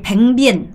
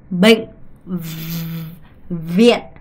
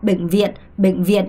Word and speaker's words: bệnh viện: 여러분이 뱅비엔 안 돼요. 뱅비엔 안 돼요. 얘는 비고 얘는 V 발음이에요. 그러면 이걸 정확하게 구분하셔야 돼요. 뱅비엔 아니고요. bệnh viện 이렇게 비읍과 V 발음을 명확하게 발음하셔야 된다는 걸 꼭 기억하셔야 됩니다. bệnh viện 이렇게요.